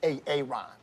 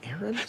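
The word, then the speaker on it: Aaron: it the first time i said ay-ay-ron because it's pronounced Erin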